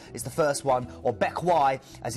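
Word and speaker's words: Bequia: the first one or Beck as it's pronounced it doesn't doesn't read like it looks uh this is still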